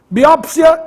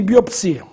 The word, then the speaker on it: biópsia: forma mais usada atualmente biópsia e biopsia mesma coisa mesma dúvida As duas são registradas mas me parece que a forma biópsia é muito mais usada do que a outra Esta é a nossa preferência biópsia com acento agudo no Ó mas fique sabendo que